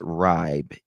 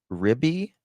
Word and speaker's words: Riibe: It's not Ribe, it is Ribby. I think that's how they pronounced it, Ribby.